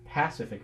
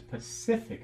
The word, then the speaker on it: Pacific: But what if we change that to the name of the ocean to our west? Pacific. It's not Pacific Ocean, it's Pacific Ocean.